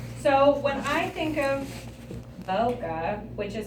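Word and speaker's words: ボケ: The correct pronunciation of bokeh is bo like bone Irony. and ke like kettle.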